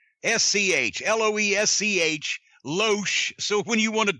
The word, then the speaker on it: Loesch: Chris lotion I know people have said they pronounce it lash but actually some people have said they ought to pronounce it leech so I'm gonna pronounce